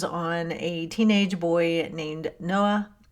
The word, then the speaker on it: Noah: Now, to summarize it very quickly, the story centers on a teenage boy named Noah. Said in the Irish brogue, it sounds way different, but that's how you say it.